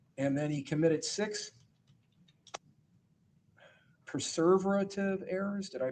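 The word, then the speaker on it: perseverative: And then he committed six preserverative errors. Did I pronounce that right? Perverative. Perverative which put him in the average range of functioning.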